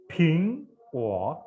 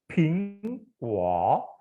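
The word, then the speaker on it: 苹果: Bingko apel. Bacanya gimana nih? Bingko. Bing ini ada anginnya ya. Bingko. Pe eng bing. Pe eng bing. Bingko.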